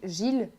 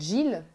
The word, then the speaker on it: Gilles: pourquoi parce qu'en Belgique Gilles euh qu'on ne prononce pas de Gilles qu'on prononce Gilles c'est principalement un prénom masculin donc bah moi j'ai